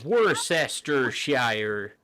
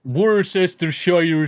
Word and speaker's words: Worcestershire: Worcester in Worcestershire. Worcestershire sauce.